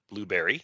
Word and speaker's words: Blubrry: If you want to create your own podcast, definitely check out our hosting site that we use called Blueberry. That is spelled Blubrry.